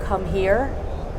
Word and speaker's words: ComHear: I liked a product called Come Here. I mean, I may be pronouncing it wrong, but it's COMHEAR, and it's basically just a